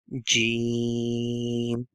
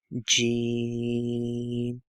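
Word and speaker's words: ج: Jeem. Jeem. Jeem. Jeem is like J sound.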